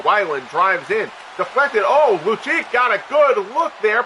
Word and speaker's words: Lucic: I mean, I always thought it was Lucic. But then I heard the game audio actually call him Lucic and I just assumed that I'm I was I assumed that I had been pronouncing it wrong.